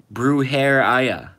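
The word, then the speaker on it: brujería: michael answered my question mexican witchcraft pronounced brew hair aya brew herreya hey said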